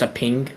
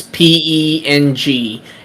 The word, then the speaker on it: Peng: I'm assuming it's just pronounced a ping. It's Chinese. Penguin? It's PENG. It's Okay.